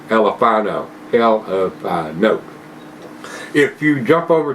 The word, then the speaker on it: Elephino: Anyway, guys, Red Rock Alephino, or Elephino, however you want to. I think they want it to be pronounced that way. Elephino.